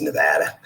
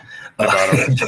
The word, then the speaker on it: Nevada: That was uh I'm trying to remember how to pronounce Nevada and say it. I think it's Nevada. Nevada Yeah, I was saying Nevada, but they say Nevada.